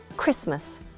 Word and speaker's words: Christmas: However, in this word, CH is pronounced k, and we have Christmas.